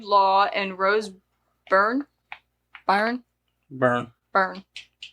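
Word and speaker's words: Byrne: Melissa McCarthy Jude Law and Rose Burn Barn burn burn said it right the first time Samm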